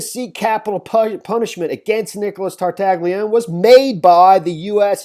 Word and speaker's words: Tartaglione: individual, you know, Nicholas Tartaglione. I know that's not how you pronounce. I think the G is silent.